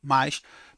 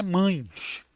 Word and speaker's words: mas: para ficar Clara né a pronúncia mas mas galera não é mães né muita gente diz mães dependendo da região do do país esse esse mais é pronunciado Mães com muita frequência mães é plural de mãe tá é mais não bota não bota nasalização nesse a não mas existe o mais